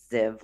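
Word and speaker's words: Sfziev: my name which is spelled SF like Frank Z IE V which is pronounced ziv like Liv and also my my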